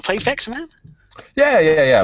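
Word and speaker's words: Vectorman: man yeah yeah yeah but you call it vexman I just no sorry I mispronounced I I'm in my brain I was saying vex man because I know it because I love it but I'd probably just pronounced it wrong I'm I'm English yeah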